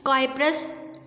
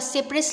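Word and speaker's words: cypris: जिसको हम कहते हैं काइप्रस लार्वा। तो ये हमारे पास इसकी प्रोनाउंसिएशन में आप इसको सिप्रिस लार्वा भी बोल सकते हैं और काइप्रिस लार्वा भी आप इसको कह सकते हैं।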